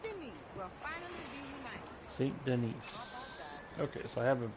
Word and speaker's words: Saint Denis: Saint Denis. Okay, so I have been pronouncing it wrong.